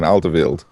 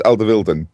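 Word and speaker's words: Alderweireld: bought in a well people I've always pronounced his name aleri but apparently it's aleren something like that who knows anyway from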